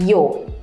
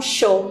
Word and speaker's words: yo: em espanhol Yo meamo alguns lugares aqui da América Eles vão usar pronúncia do jo o o jo então jo meamo e na Argentina bizar a gente até fala gente povo é fresco mas não é eles vão falar com show então eles vão falar